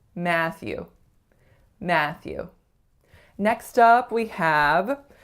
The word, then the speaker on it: Matthew: The most common mistakes that I hear for this one is that the syllables are a bit too even or that there is not enough tension on that first a sound. So it's not Matthew, it's Matthew.